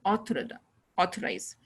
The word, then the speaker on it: authorize: apologize, apology, authority, and authorize. Authorize, this is verb. Authority is noun. So authority में बीच में stress क्या है, and authorize means वो first में गया है, first sound में, first syllable में.